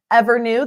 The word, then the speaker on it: EVRNU: Evernew, that's spelled EVRNU, is a Seattle-based advanced